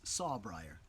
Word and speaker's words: saw briar: I call nature's razor-wire happens to rhyme with razor wire it's saw briar any of you that's